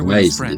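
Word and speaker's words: Wriothesley: Okay, Risley. That's how you pronounce it.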